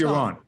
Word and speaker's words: Yaron: It's Yaron.